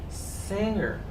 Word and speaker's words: singer: The G in this word, it's a silent letter too. It is pronounced as singer.